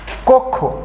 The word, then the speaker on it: কক্ষ: আবার খেয়াল করেন, আদিতে যদি অকার থাকে, তারপর যদি কয়ে স ফলা থাকে, সেক্ষেত্রে আদ্য অ এর উচ্চারণ ওকার হবে। যেমন কক্ষ, এখানে এই কর সাথে